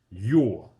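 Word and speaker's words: ё: So basically the umlots over the e. Okay. that that makes the pronunciation your in category 2 we saw the regular e without the umlots and that's pronounced yeah so your and yeah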